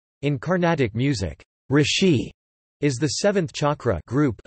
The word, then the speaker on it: Rishi: descendant families of these Rishi's refer to their ancestral lineage through their family gotra this is a common practice among the Brahmans sects of the current hindu society the name rishi pronounced rusi is also the basis